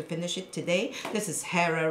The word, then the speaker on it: Hera: This is Hera right there. Again, you know, it was told that the H, you know, is written, but it says that it wasn't pronounced.